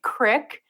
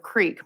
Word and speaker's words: creek: close to Cincinnati, Ohio, I pronounce some words terribly. I say crick. We were just talking about that. Sometimes instead of creek. My worst one, though, is warsh. It's a Midwestern thing anyway, I guess.